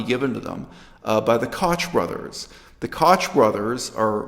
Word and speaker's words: Koch: have had that name, pronounce it Koch, but not in this case. They prefer the pronunciation Koch, and they pay a